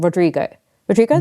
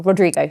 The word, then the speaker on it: Rodrigo: Sorry, I always say her surname wrong. Rodrigo, sorry.